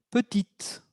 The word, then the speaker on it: petite: Se escucha una T al final. La T se libera, es la consonante que era muda en masculino, que se volvió sonante o con un sonido en femenino.